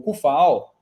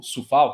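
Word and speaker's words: Coufal: Tem, entre outros, o Arreolá, o Emerson Palmieri, são os caras decentes, o Cufal, ou Sufal, que é a pronúncia correta.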